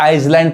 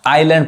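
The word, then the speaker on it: island: अब इसको इजलैंड बहुत लोग पढ़ते हैं, गलत पढ़, या इसको आइसलैंड पढ़ते हैं जो कि गलत उच्चारण है। क्या पढ़ाएगा, एस नहीं पढ़ाएगा, आइलैंड पढ़ाएगा।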